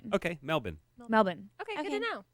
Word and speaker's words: Melbourne: our listeners it's pronounced melbour oh melbour like no r one one of our listeners said it's almost like you don't have enough time for all the extra vowels okay Melbourne melbin melbour melbour are you